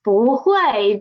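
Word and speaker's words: 不会: read it it is it is boo hue because of the tongue sandy of tong san diego when buu is before a fourth tone syllable it will change to second tone okay this is hui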